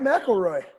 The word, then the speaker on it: McElroy: You said it right, McElroy.